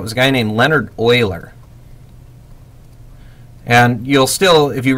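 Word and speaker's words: Euler: look at his last name and you say uler like Ferris buer but it's not it's Oiler um that's the way he he pronounced it and here in lies the issue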